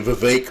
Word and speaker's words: Vivek: crucial thing that apparently Vivek rhymes with cake ramaswamy does not understand